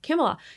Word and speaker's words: Kamala: Kamala, sorry, I keep pronouncing her name wrong. Kamala, she is 102 days in, like 102 days.